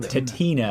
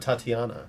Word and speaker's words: Tatina: uh T tatina ttin tatina not Tatiana no you pronounce it tatina apparently she gets mad if you pronounce the other way she has a lot